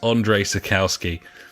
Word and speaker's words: Andrzej Sapkowski: Andres spouse circle ski Andrzej Sapkowski there's lots of other letters in there that I'm reliably informed to you don't pronounce so his name is Andre sakowski he is trying to